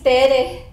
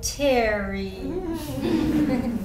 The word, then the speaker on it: Tere: And I say, "Hi, my name is Tere." And she say, "Oh, Terry." No, it's Tere. No, it's pronounced Terry. That's pronounced Tere.